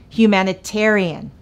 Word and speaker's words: humanitarian: mispronouncing the word humanitarian put the stress on humanitarian repeat after me humanitarian this provides a quick